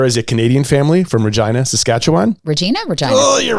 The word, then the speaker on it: Regina: There is a Canadian family from Regina, Saskatchewan. Regina? Oh, you're right. I just made it a vagina. Sorry. Okay, try it again. Is it? Wait. No, it's Regina. Don't say Regina.